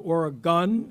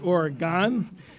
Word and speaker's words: Oregon: Governor, I want you to know that we've all been practicing the pronunciation of Oregon and not Oregon, which at the christening, Congressman Greg Walden chastised all of us for, again, getting it wrong.